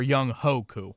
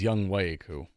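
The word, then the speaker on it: Younghoe: Um, Mark, their original kicker, Young Wayu or Young Hoku. I always like the way you pronounce it, but is Young Wayu. It's not Young Ho.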